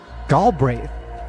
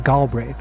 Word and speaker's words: Greath: Greath. Like wraith in pronunciation. Greath.